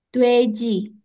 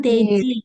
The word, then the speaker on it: 돼지: 3번, 돼지, Dueji. Kiri kanan? Kiri. Kiri Kiri. ya. Sebelah kanan deji.